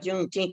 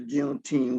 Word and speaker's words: Juneteenth: Well, I had never heard of Juneteenth until I got to California.